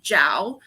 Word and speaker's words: Zhao: from the uh channel jowl um z-h-a-o at the end but that's how you pronounce it and i read